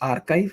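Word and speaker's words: arXiv: a place here and this is pronounced archive archive.orges what we're going to do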